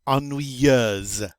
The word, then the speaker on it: ennuyeuse: In the masculine, in the feminine, it's ennuyeuse.